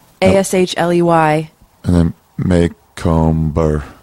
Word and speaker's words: Macomber: Yeah, but no one pronounces it that way, did you know? What do they pronounce it? Macomber. Oh, yeah. But that's not the way you pronounce it, but that's the way you spell it. It's Macomber. Yeah, Macomber.